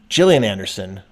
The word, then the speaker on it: Gillian Anderson: She said the soft G. Gillian Anderson.